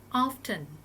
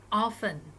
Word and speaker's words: often: you do yoga so there are two possibilities for this words pronunciation so for the first one you can say often often or you can say often often so both are